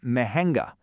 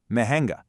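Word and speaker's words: महंगा: If something costs an arm and a leg, it's expensive, or mahenga. Mahenga. Did you catch that slight nasal sound in the middle? Give it a go. Mahenga.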